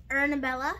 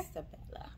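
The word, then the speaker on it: Isabela: We have our trusty Ernabella. Trusty? Our trusty Ernabella right here. Isabella.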